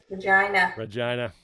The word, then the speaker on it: Regina: Regina.